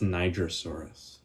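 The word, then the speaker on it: Nigersaurus: It's it's not it's pronounced nigasaurus. Um, it's from the country Niger in Africa.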